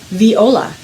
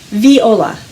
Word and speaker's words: viola: time with Lisa and my viola it is pronounced viola can you say that with me viola excellent you've got it today's story is called